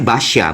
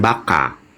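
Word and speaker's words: Bacha: minum kopi di Basya ternyata bacanya Basya bukan bukan Baka Oh Basya yang di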